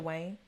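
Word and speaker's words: Dwyane: the previous seasons, he is kind of like Dwayne Wade. I'm not Dwayne Wade. Yeah. Dwayne Wade. Wayne. What? Nah, what's his name? Now I'm messing it up. What's his name? Dwayne.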